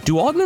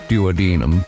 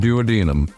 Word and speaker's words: duodenum: how about another duodenum is it duum or duodenum I always forget how it's pronounced I know in the song pancreas the Weird Al song he says duodenum but that might just be to make it like flow rhythmically no I believe that is the correct American pronunciation okay then duodenum duodenum